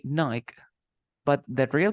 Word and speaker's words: Nike: this God okay so the name is a Nike Nike but some people say Nike but that real pronunciation is like it if you call to